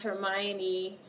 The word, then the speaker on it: Hermione: I'm thinking about it basically you pronounce Hermione the same way you already do but without as much emphasis on the O sound Hermione's okay got it